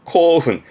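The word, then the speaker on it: 興奮: 흥겨워한다 그러다가 요거는 분짜라 흥분한 거죠 제가 지금 발음은 코훈 코훈 이거를 두 줄로 하지 마시겠지 흥미는 쿄미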